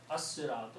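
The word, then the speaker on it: الصِّرَاطُ: In the pronunciation of the tajweed, when swad comes before lam, then you don't pronounce lam. You pronounce swad twice. So it is as-siratu. As-siratu.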